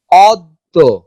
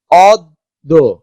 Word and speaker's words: অদ্য: যেমন অদ্য, অদ্য, দ দুইবার উচ্চারিত হচ্ছে, কিন্তু অদ্য জ ফলা কিন্তু উচ্চারিত হচ্ছে না।